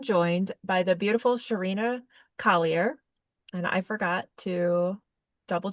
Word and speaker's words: Collier: by the beautiful Sherina Collier. And I forgot to double check your last name. Did I say it right? Collier? Yeah, you did.